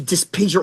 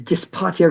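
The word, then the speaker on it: Dis Pater: br either way but your original proper Roman pronunciation is dis poer because p is the word for father I don't know what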